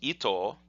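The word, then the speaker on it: 糸: And that part, if it was just by itself, is pronounced ito and means thread.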